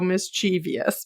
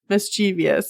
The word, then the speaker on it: mischievous: you'd say it because my brain wants to go mischievous but like it is not mischievous it's mischievous um so fairies also